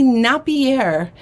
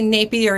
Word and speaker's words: Napier: um like Napier there's some people online that that say Napier and it was never that if you Google the old commercials you know that aired on television they say Napier is naughtier that was one of their taglines and it's very clear that they're saying Napier also um what else